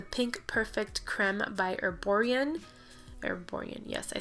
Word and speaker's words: Erborian: Erborian, yes, I said it right.